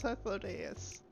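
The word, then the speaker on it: Hythlodaeus: So it was Hethlodius.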